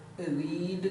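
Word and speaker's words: read: अब यहाँ पढ़ चुका तो रीड का तीसरा फॉर्म रेड होता है। स्पेलिंग वही लेकिन पढ़ा जाएगा ये रेड, पढ़ा जाएगा रेड।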